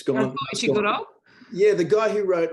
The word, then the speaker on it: Ishiguro: Ishiro Kishima. It's gone. Ishiguro?